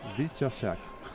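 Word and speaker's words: Wieczerzak: How did you pronounce that name, the German name? Vyshchak.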